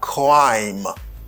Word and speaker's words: crime: R là, pas prononcer tant que R français, pour dire crime, c'est quoi? Même j'en dit crabe. Ou pas même son. Cra. C'est quoi? Tant qu'on dit croiser. C'est crime. Okay?